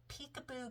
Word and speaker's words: Picaboo: Um it's the name of the store is Peekaboo Creek Designs, but it's spelled P I C A B O Creek Designs.